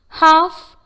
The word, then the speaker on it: half: words such as talk, half, come, should, could, would. That is, though we see the letter L in these words, there is no L sound in these words. The L sound is silent.